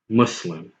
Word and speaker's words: Muslim: to the word Muslim the most correct and accurate is Muslim okay so for those